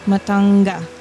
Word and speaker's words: Matanga: matanga oh like a it's n g a not matanga matanga matanga oh no it's with a hard G matanga yeah that's what she